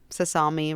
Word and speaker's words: Sasami: Sasami rhymes with salami.